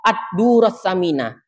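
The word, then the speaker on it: الدر الثمين: Ya, sammaituhu Ad-Durrus Samina.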